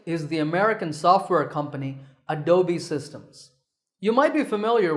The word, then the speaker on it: Adobe: often pronounced wrongly as a dome but that e at the end is not silent it should be said as an e sound so it's Adobe number 9 is this